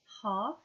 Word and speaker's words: half: have silent T's H you will find silent L's in words like half C they are spelled